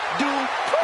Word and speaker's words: Dupri: Uh Michael, it's pronounced Dupri.